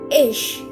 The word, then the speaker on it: ich: is my name so in English this is pronounced as H in German it's pronounced as ich so this also means